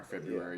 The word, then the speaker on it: February: you pronounce the R in February.